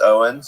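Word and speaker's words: Eoin: Your your name is Eioen pronounced Owens, you know, so use that.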